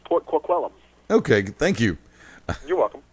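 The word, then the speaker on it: Port Coquitlam: I hope I pronounced that right. No, no, no. You mispronounced that. I actually know that. Okay. Port Kquellum. Thank you. I actually know that uh from listening to Smadcast. Shout out to Wicked. Yeah, it's Port Quellum.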